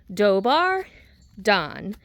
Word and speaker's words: Dobar dan: Two words, dobbar don.